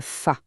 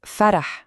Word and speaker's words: ف: Il s'agit de la lettre fa. Là, franchement, aucune surprise. La prononciation, c'est exactement celle qu'on connaît déjà en français. C'est le son pensé à France facile. Voilà, c'est ce son-là.